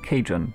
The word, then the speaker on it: Cajun: Am I pronouncing your name right? Cajun Gamer? Or... I mean, there are many ways I could pronounce it. Cajun. Okay, perfect. Nice.